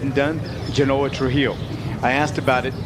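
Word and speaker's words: Zjhonoah: I asked about how to pronounce his name and it's Genanoa and I'll give you the spelling of it in a moment as the pitch is in there for a strike.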